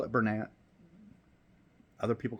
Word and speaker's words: Bernat: first up we have some people pronounce it Bernat some people pronounce it as Bernay it's okay we we know what everyone's talking about um so I call it Bernat other people call it